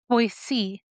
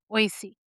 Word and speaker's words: Boise: you gotta say it, it's Boise. Boise. Boise, I'm not sorry. Boise. Boise. I'm sorry. I mispronounced that to all the Idahoans out there.